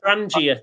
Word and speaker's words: Trangia: Trangia. It's a G, not an S. Trangia. Oh, sorry. Hang on. Back to the boring board. So it's Trangia. Trangis. GIA rather.